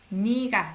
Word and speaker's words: 네가: 네가. Okay, this is a subject particle. 네가. You don't pronounce it as a 네. Either 너 or 니.